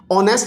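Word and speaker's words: honest: ऑनेस्ट में ओ देखें, ये वोल साउंड है, इसके साथ एन लगेगा। तो यही चीज हमने यहां सीखनी है।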